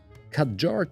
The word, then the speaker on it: Kadjar: with the cut jar khadjar takes its name from two joining syllables Cad and jar the first is supposed to sound like a quad bike and the other like agile or jair which is French for gush out so it's an agile